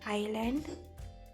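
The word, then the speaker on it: island: When S comes before L or after I, sometimes it is silent.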